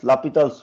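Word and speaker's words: L'Hôpital: you don't Remember there is a rule called Lapidal's rule. Okay. Written as L hospital's rule pronounced as Lapal's rule.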